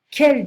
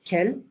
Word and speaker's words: quel: can be masculine singular, quel, can be masculine plural, quel, can be feminine singular, quel, and can be feminine plural, quel. So they all have the same pronunciation.